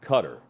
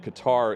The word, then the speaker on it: Qatar: called in and said he calls it there cutter but he said that Qatar is appropriate it's the English pronunciation yeah it's like ke